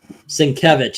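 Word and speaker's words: Sienkiewicz: do appreciate Bill s by the way exactly svich if you want to say it right or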